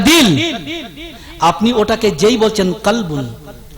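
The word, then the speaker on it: كلب: আপনি ওটাকে যেই বলছেন কলবুন, কলব আর কলবুন, শুধু ভাবেন একটা বড় কাপ আর যেটা আমরা ভাষায় বলি ছোট কাপ, যার নোক্তা নেই, নোক্তাবিহীন।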